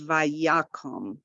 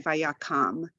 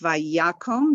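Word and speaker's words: ויקם: So kom, this is a closed, it ends with a consonant, closed, unaccented syllable. So it's vayakom. If the accent was on the last syllable, it would be vayakam. But it's vayakom.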